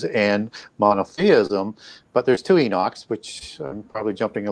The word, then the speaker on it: Enoch: But there's two Enochs, which I'm probably jumping a little bit ahead, but he names the city after his son Enoch, and some people pronounce it Hanok.